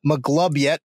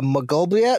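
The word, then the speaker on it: Maglubiyet: reason so they worship i believe it's pronounced mcglub yet uh magoblia i'm sorry mcglub yet uh m a g l u b i y e t also known as the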